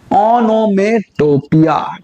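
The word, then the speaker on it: onomatopoeia: इसकी जो correct pronunciation है वो है ओनोमेटोपिया।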